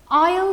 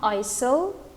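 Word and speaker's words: aisle: means on a plane i'll see it it's not isil it's i'll see the s here is silent which means a seat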